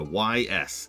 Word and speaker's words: Ys: Yeah, YS is how it's spelled.